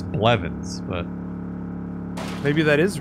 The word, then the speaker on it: Blevins: name blevins i know how to pronounce it and it's blevonne to be fair it'd be pretty hard to mispronounce blevins but maybe that is